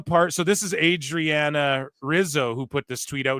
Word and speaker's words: Rizzo: Stax Lorenzo and um Adriana Hizo or Rizzo rather I say Hizo because Brazilian